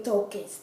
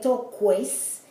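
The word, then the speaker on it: toques: that um that um the u is not even pronounced like toke toke no me tokes tokes like no me tokes which means don't touch me so it's not no me talk ques it's no no me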